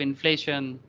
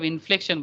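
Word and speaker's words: inflection: ये कार्व, हाँ, saturation point, point of इन्फ्लेशन, हाँ, इन्फ्लेशन नहीं, सॉरी सर, इसको पॉइंट ऑफ इन्फ्लेक्शन बोलेंगे। क्या बोलेंगे? इन्फ्लेक्शन, हाँ, मतलब इन्फ्लेक्स, जहाँ पर वो टर्न ले रहा है, इन्फ्लेशन नहीं बोलते हैं, इन्फ्लेक्शन, ये स्पेलिंग मिस्टेक है यहाँ पर, ठीक है।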